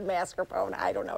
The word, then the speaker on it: mascarpone: spring it's not pierogi it's like the people who say marscapone is in a mascarpone I don't know it's